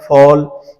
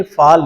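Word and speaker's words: fall: जाए तो वहां पर लिप्स को राउंड करके बोलते हैं, यानी ऑल, toll, स्मॉल, toll, हॉल, फॉल। हमने फाल नहीं कहना, टाल नहीं कहना, फॉल, टॉल।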